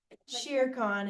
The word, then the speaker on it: Shere Khan: Sherry-Con. Yes. That's 5. Good. Can't say it, Sherry. Oh, Shere Khan is how I say it.